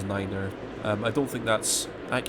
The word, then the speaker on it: niner: in this game you have to pronounce night as Niner I don't think that's